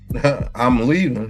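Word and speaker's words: Iamaleava: I'm leaving. That's what it's saying. I'm leaving. Oh, it looked like that too. I'm a leaver.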